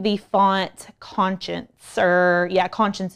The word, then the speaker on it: Conscience: And then I'm going to be using the font Conscience, or yeah, Conscience is how it's pronounced.